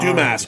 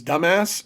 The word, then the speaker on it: Dumas: Dumas, often mispronounced as dumbass, and that's why he changed his name to the Privateer.